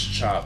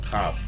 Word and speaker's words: Khop: Despite the K, it's pronounced as Chop instead of Cop.